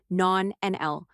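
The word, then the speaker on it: nonanal: Scientific research has identified a compound known as non-anal, pronounced non-NL, which plays a significant role.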